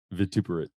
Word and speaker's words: vituperate: No, that is not how you say it. Vituperate.